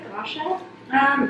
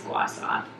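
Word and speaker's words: gua sha: Yeah, that's what I've heard, and that's how you pronounce it, Gosha. I think the official way is Gwasa.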